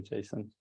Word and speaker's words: JSON: okay yeah yes okay I would say Jason that's very classic to say like that Json I love it